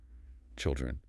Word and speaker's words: children: The plural is pronounced with a short I sound like ill or phil. Children. Uh, another vowel shift. Child with the i sound goes to children with the ill sound.